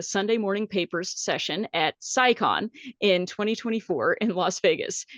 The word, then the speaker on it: SciCon: You got it right the first time. SciCon.